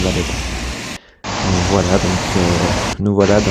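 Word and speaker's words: Valletta: La Valette qui bon c'est la prononciation en français mais en fait ça se dit Valetta ça se prononce Valetta voilà donc nous voilà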